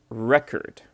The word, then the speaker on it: record: So this one has the stress on the first syllable. So, we say record. Record. I know this might be a bit strange, but we say record. And then this one is record. Record. Record. And the stress is on the second syllable.